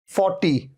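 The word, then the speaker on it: forty: है 14 14 अच्छा र के साउंड को तो आप लगभग भूल ही जाइए इसे तो भूल ही जाइए आप 40 40 और 14 14 र तो साइलेंट है ओनली इसे कई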